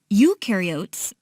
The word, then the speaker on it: eukaryotes: mitochondria and Golgi apparatus eukaryotes the you rhymes with do they do have membrane